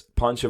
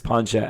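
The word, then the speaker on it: Pacha: at work there there's Pancho voiced by John Goodman I definitely got that name wrong but it's pancha and then there's Emperor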